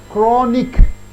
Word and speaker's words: chronic: Chronic, all CH are pronounced as co.